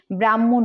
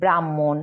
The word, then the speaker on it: ব্রাহ্মণ: উচ্চারিত হয় যেমন ব্রাহ্মণ ব্রহ্মা ব্রহ্মপুত্র ব্রাহ্ম অনেকেই ব্রাহ্মণ উচ্চারণ করে থাকে ব্রাহ্মণ ব্রহ্মা এরকম কিন্তু হবে না এটা উচ্চারণ করা